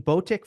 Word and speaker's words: Botic: When Botic first had his run at the U.S.